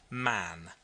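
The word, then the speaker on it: Mahon: He had a Roman nose, a snow white long beard, and his name was Mahan, but he insisted that it should be pronounced man.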